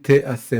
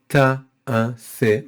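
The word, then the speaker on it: תֵּעָשֶׂה: If you would look at this verse without the pronunciation marks, the equivalent of the vowels, right, in Hebrew, without the pronunciation marks, you would think it says Sheshet Yamim Ta'aseh Melacha.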